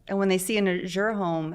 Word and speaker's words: Azure: But we pronounce it Azure.